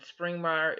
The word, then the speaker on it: Springmeier: Fritz is spelled Fritz space, and Springmeier is spelled like it sounds, except for it's Springmeier. Springmeier.